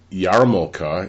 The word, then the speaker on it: yarmulke: In fact, yarmulke, the kippah that we wear, Yarmulke is the way it's spelled, even though it's pronounced yarmulke, means fear of or awe of heaven.